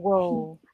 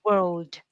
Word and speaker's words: world: And of course, the D is there. The D is there. You have to produce it. It's not wo, it's world.